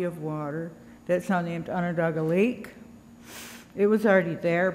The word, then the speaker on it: Onondaga: people, the Onondaga people, which, by the way, isn't even Onondaga. It was kind of anglicized by people that came around. The actual pronunciation is Onondaga. That's the way that we pronounce what we call ourselves.